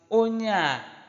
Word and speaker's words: Ona: her they Ona Ona take note of how I pronounce it Ona as if they are linked they are written together Ona this person person on